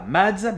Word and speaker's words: Mads: celui-ci sera remplacé par Mads Mikkelsen, qui ne se prononce pas Mads mais bien Mads car il est danois et en danois le D est muet, donc Mads Mikkelsen.